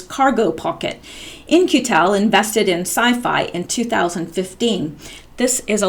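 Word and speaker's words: CyPhy: excuse me okay I think this is pronounced sci-fi built a tethered drone that can monitor an area for days at a time sci-fi pronounced sci-fi okay yeah it is it is the proper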